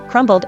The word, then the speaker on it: crumbled: has no B sound crumbled is is a completely different word and receives the pronunciation typical form ble thimble Trumble fumble Etc